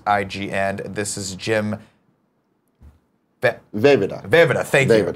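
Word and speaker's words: Vejvoda: Vida, thank you. I was going to say Ven. Don't pronounce the J.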